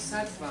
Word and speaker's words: sattva: Eso es una V. Ah, es sattva.